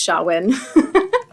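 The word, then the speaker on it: Samhain: because it's Celtic so there's no W in that even though it's pronounced shawin sawin it is s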